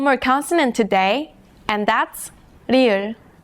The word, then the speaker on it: 리을: Its pronunciation falls somewhere between the English L and R.